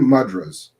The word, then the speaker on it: mudras: Mudras? Hand mudras.